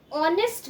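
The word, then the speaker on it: honest: then an ऑनेस्ट मैन, यहाँ पे ऑनेस्ट भी एच से स्टार्ट हो रहा है, बट एच जो है वो साइलेंट है, साउंड ओ का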